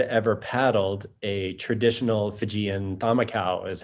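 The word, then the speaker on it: camakau: However, none of us had ever paddled a traditional Fijian thamakau, is how that's pronounced, which is that they made these boats for the race in the traditional design.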